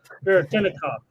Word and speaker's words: Veretennikov: So Veretinikov, I think is how you say that. It'd take me a couple times to say. I think I was wrong earlier. I tried to throw in an extra tinna in there.